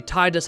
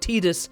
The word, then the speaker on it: Tidus: Many like me say Titus out of force of habit and it does sound pretty cool, but Tidus is more correct.